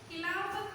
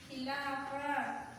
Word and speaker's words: Khilafat: this because you have to know a correct pronunciation of words also. Yes or no? So that's it. See here, the next topic, Khilafat agitation. What is that? Khilafat. Okay? Khilafat agitation.